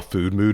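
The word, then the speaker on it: Füdmüd: audiobook okay um the because it's audio you can't read uh how food mood is spelled yes I heard about it because later yeah yeah there's a whole point um in the book and this is kind of where things uh like I love audiobooks I listen to a lot but there are limitations yeah but food mood is spelled f-u-d-m-u-d and there are umlauts over the use yes so it looks like fudmud yeah um and that's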